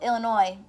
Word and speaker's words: Illinois: cute he's saying yes my name is Illinois and I needed an airline ticket to him well Illinois mmm-hmm no the S is silent my family's from Illinois so that's pretty funny